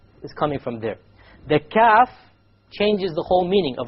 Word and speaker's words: ك: So the difference between the Qaf and the Kaf is in precisely where the makhraj occurs. Notice we will do both of them. This is the Qaf, right? And then this is the Kaf, slightly below that, closer to the mouth.